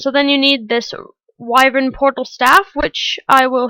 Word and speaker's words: wyvern: mob that's added so I'm not entirely sure how to pronounce this but I'm pretty sure it's pronounced wyvern at least that's what I've heard other people pronounce it as so it's basically a